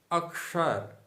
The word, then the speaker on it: अक्षर: इसी प्रकार से अक्षर, अक्षर बोलेंगे तो अशुद्ध हो जाएगा, अक्षर ये शुद्ध होगा। यज्ञ, ज्ञान, विज्ञान ये शुद्ध हैं और यज्ञ, ज्ञान, विज्ञान ये अशुद्ध हो जाएगा।